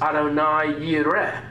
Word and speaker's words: Adonai Yireh: In the English, it's frequently pronounced as Jehovah Jireh. In Hebrew, in the song we sang, it was Adonai Yireh.